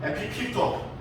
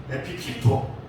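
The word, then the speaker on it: ἐπιπίπτω: 에피피토. 앞사람 뒤통수에 침이 튈 수 있으니 발음에 주의하시면서 다시 한번 에피피토.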